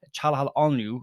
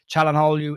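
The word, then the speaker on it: Çalhanoğlu: We'll start off with rumor mill, I suppose, and Hakan Calhanoglu. I really struggle to say his name. It's the G in the middle that you don't pronounce.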